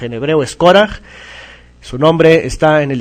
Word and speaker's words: Córaj: Al final como j española, no es corash ni nada de eso, es coraj.